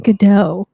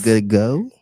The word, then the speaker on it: Gadot: Gadot. That's how you say it? Yes. Good go? Gadot. Good though?